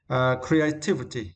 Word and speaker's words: creativity: And next was creativity. Yeah, creativity. And for this word, we need to stress the third syllable, right?